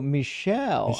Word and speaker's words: Michelle: And Michael says, "My name isn't Michael." Oh, okay. It's pronounced Oh, Michelle.